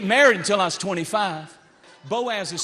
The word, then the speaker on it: Boaz: Ruth waited for her Boaz.